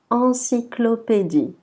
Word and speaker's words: encyclopédie: Donc le mot, c'est encyclopédie.